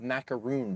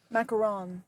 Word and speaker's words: macaron: lone shark de uh due to a failed macaroon business, which macaron.